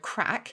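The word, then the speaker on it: craic: Well, I've done that before, where I've talked about how I love the Irish word crack.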